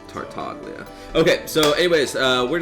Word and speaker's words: Tartaglia: something like that but tartagla is very easy to pronounce tartaglia okay so anyways uh